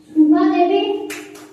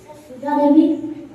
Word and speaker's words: সুধা দেবী: হ্যাঁ, গেছিলে ঠিক পথে যাচ্ছিলে কিন্তু বানান এবং উচ্চারণ ভুল করলে, তাই এটা তোমার নাম্বার দেওয়া যাবে না। এইটা বোনাস যাবে গ্রুপ ই এর কাছে। সুধা দেবী। সুধা দেবী সঠিক উত্তর।